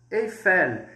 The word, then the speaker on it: Eiffel: Então, pessoal, o L no francês, ele é bem carregado. Como assim, Leandro? O L vai sempre ficar bem mais forte que no português. No português, L. En français, L. Perceba, ao término da pronúncia, a pontinha da língua vai ficar aqui atrás dos dentes.